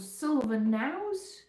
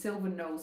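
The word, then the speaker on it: Silver Knowes: There's a place called Silver Now. It's spelled Silver K N O Wes S. I I thought it was Silver Nles.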